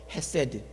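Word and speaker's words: חסד: 중에 여러번 강조했던 단어입니다 히브리 발음으로 세라고 하는 단어입니다이 발음 그대로 기억해 두십시오 세드 인자이 단어는 한국말로 번역할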